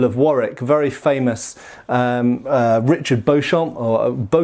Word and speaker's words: Beauchamp: So this, incidentally, is the Earl of Warwick, very famous Richard Beauchamp, or spelt Beauchamp, actually pronounced Beauchamp, and that's a very famous Milanese harness of the mid, well, kind of 1430s, 1440s, 1450s.